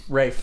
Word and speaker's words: Ralph: literally I want to run into him sorry Rafe he's like it's ray Fiennes like you know